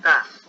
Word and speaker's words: does: Do ya no es do, es does. Se pronuncia does, por ejemplo.